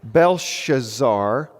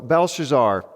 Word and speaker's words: Belshazzar: this new character, and I'll try to say his name correctly, Belshazzar, okay? A lot of consonants, right? It's a lot of those in speaking, not a ton of vowels. So Belshazzar and Nebuchadnezzar.